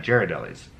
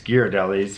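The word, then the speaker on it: Ghirardelli: yes as I said that's a common miss mispronunciation called Jared Ellie's its gear delhi's and we got it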